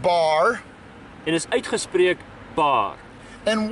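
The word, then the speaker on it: בר: It's the B and the R sounds. Dis die B en die R klanke. It's pronounced bar.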